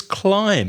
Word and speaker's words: climb: another word completely and another word with the silent B is climb escolar so CL IM b the b is silent climb I'm climbing the